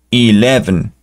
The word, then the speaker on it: eleven: y una n Eleven Eleven la e se pronuncia como si estuviera sola e Eleven el 12 tal vez